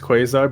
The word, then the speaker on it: quasar: it's true we were is it pronounced quasar or khazar ah it says you know i think it's i mean it's definitely pronounced quasar but it's also up to